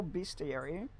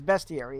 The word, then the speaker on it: bestiary: Rooster reptile hybrids in the mythology be mythological beastiary. Bestiary. I never know how to pronounce that. It's bestiary, isn't it? Uh cuz there's no extra e in there. A in there, rather.